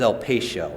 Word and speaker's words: El Patio: west down Excelsior Boulevard, but the last is El Patio, and I am pronouncing that correctly.